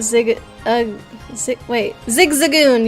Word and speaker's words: Zigzagoon: not Zig uh wait Zigzagoon you're right not zigazoon Zigzagoon dang it I'm gonna